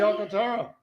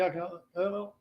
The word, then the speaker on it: Alcantara: It's the NL Cy Young Award winner, Sandy Alcantara. You said that last name so wrong. Sandy Alcantara.